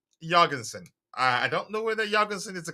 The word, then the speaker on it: Jorgensen: I don't know whether Jorgensen is the correct pronunciation again, because when he introduced himself, he pronounced his name as Jorgensen. The J wasn't pronounced as Y.